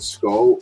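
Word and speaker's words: Skoll: Ahsoka series was balen skull skull I think is Skull is how you say his name uh Ray Stevenson is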